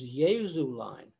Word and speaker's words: Jesulein: the first beat, because the way you would speak this is Jesulein. So the second note, the second word, the second syllable is softer than the first, and the third syllable is softer than the second.